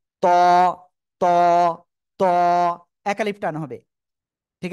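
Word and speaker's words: ط: অক্ষরের নাম হলো ত জিহ্বার আগা ওই দুই দাঁতের গোড়ায় লাগান লাগিয়ে একটু মোটা আওয়াজে উচ্চারণ করেন ত ত ত এক আলিফ টান হবে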